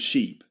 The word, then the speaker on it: sheep: The ship, we put all the sheep with a long E sound.